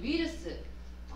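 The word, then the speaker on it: ウイルス: 그다음에 위르스. 단어를 보시면 우이르스인데 위르스라고 발음을 하시면 돼요. 위르스 이렇게.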